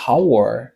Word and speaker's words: hour: H lan li silent, ça veut dire li pas prononcé.